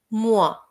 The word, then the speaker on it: mois: Mois, mois এখানে s টা আমরা উচ্চারণ করব না। Un mois এর মানে হচ্ছে এক মাস।